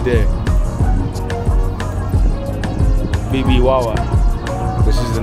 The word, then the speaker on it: Bibijagua: Bibijagua, así se pronuncia.